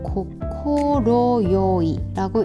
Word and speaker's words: 快い: 먼저 뜻으로이 아이를 읽을 때는요. 발음이 고코로요이라고 읽는데 이게 따로따로 읽히잖아요.